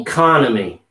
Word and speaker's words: economy: you come at me economy you come to me okay that will help you remember put the stress on it economy economy okay or